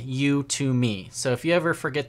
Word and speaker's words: Udemy: some people call it who to me and I think there's probably a few other pronunciations but just to let you guys know it's pronounced you to me like you to me so if you ever